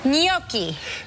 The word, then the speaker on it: Gnocchi: Gnocchi. GNOCCI. You forgot the H. GNOCCHI. Oh, okay. Gnocchi. Yeah. Okay. Yeah. Right. If it was CCI, it would be pronounced gnocchi.